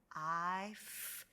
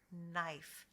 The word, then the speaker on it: knife: when kanan comes together don't forget that your k is silent you will not hear a k sound in this combination you will only hear